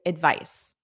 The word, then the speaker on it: advice: first of all pronunciation the noun is advice advice the verb is advise v v v notice that voice advise advise repeat that